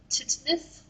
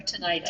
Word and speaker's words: tinnitus: like there is a version of tinnitus or tinnitus. Tinnitus, yeah. Depending on who you are and how you pronounce it, it's both ways are correct.